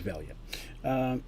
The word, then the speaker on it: Velia: it is i'm bad velia was his name i said it wrong it's an underwater vampire but his name is velya he's been living in